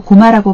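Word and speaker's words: 高麗: 일본에서는 고구려를 고려라고 쓰고 고마라고 발음합니다.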